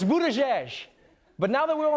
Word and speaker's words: Buttigieg: It's "boot-a-jej."